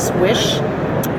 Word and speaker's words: Slisz: It's spelled Slisz, pronounced swish.